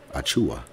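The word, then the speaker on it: Achiuwa: this young brother's name man how do you pronounce it achua okay precious achua all right he a dude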